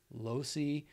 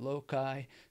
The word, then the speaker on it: loci: mind palace there's the method of Losey method of loci method of loci people pronounce it many many different ways you'll come across that